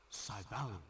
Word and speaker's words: Syvalion: Also, listen carefully. Syvalion. That's how you pronounce the game's name.